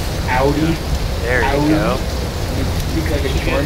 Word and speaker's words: Audi: The only luxury car that I really want is Mods. Why? I love Mods. If you love them so much, you should pronounce it correctly. Audi.